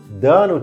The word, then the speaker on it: the: ஸோ வழக்கமாக பல பேருக்கு இருக்கிற குழப்பம் THE இதை எப்படி உச்சரிக்கணும்? தன்னு உச்சரிக்கணுமா, தீன்னு உச்சரிக்கணுமா, இதில் எது சரி அப்படிங்கிற குழப்பம் பல பேருக்கு இருக்குது.